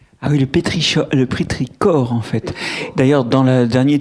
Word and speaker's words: pétrichor: tirage il y a j'ai rajouté la prononciation parce que c'est un ch venu d'une racine grecque donc c'est le pétricore mais c'est pas un